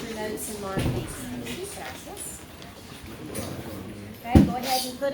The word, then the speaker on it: gracias: And I want to remind y'all that there is a diphthong in this one, which means it's a 2-syllable word, not a 3. Gracias.